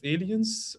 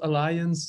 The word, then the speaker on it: Allyens: I'm a managing partner of Allyens, not Alliance, not Alliance, or how you would pronounce it.